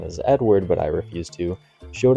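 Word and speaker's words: Eadweard: popular exhibit ID weird mbridge whose naming suggests pronunciation is Edward but I refus to showed off his Zoo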